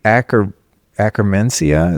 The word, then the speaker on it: Akkermansia: And I mean, we'd be here forever if I went through every little thing, but where does the Akkermansia, is that how you say it?